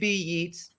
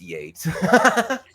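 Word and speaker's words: Yeats: The first being oh wait it's Yates not Yates. Right. I'm talking to an artist and well, you know, like WB Yeets, it's Yates.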